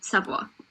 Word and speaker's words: Savoie: But, it's Savoie.